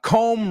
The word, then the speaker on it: comb: Uh comb rhymes with home, right?